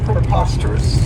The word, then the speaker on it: preposterous: I really like, is preposterous. And this adjective has 4 syllables, and the stress is on that second syllable. Preposterous. And remember that O-U-S has that schwa, that us sound.